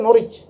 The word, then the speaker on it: Norwich: Ya Norwich itu bacanya Norwich.